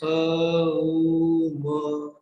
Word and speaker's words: Om: We'll practice Om as a-uma. It is traditionally explained that original Om sound is a-uma. A stands for creation. U stands for sustenance. And the trailing ma sound is representing destruction.